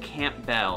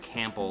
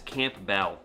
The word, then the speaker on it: Campbell: but it's pronounced - can't bail I know it looks like Campbell like the soup company but it's can't bail and it's about 15